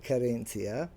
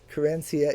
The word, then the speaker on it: Querencia: And there it is, Corenia. That is the English pronunciation of the Spanish loan word that we have borrowed and it is my word of the day to celebrate National Hispanic Heritage Month.